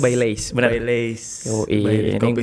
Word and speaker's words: Baileys: Bacanya Baileys, benar.